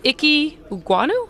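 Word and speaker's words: Ekwonu: than the jets guy by the name of icky guano is that am i saying it correctly all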